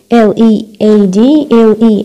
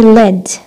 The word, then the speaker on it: lead: أول شيء بالبرونسيشن هادي lead أما هاي led. هاي led ليش؟ حطينا انه هو بالباست الباست of lead. إذن إيش الباست of lead؟ lead نفس الكتابة led مثل كلمة read.